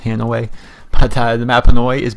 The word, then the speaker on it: Hanoi: map Hanway it's by the way it's not pronounced Hanoi it's pronounced Hanway but the map Hanoi is based on the